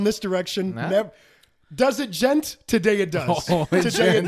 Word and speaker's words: Djent: Like, Djent is the D is silent, like Django.